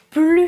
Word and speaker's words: plus: mangé », il n'a plus faim, il ne veut plus de chocolat. Je ne prononce pas le S parce que la phrase a un sens négatif.